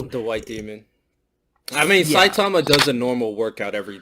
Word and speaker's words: Saitama: is great too it really just I mean Satsuma is sorry I always pronounced mispronounce his name the first time I said everyone my brilliant conversation anyway Saitama literally he trains his butt off he yeah